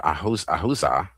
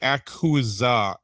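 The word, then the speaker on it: אחוזה: The emphasis, and you look up the word ahuza, I think that's how you pronounce it. Well, I mean, it's technically akuza.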